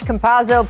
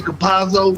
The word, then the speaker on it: Campazzo: Watch Campazzo pull the chair out from PJ Washington.